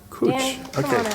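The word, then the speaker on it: Kootch: Cooch. That's the pronunciation.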